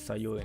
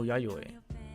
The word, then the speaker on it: Yayoi: Oh, it's Sayoi, not. Oh, Yayoi. Not Sayoi.